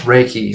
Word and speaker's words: Reiki: the audience that might not know what the Riki thing is am I pronouncing that right too it's pronounced raiki like a see that's why you're the professional I'm not at this so with raiki give us a ground floor definition of what